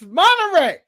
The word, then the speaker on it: Monterey: pronounce it. It's Monterey.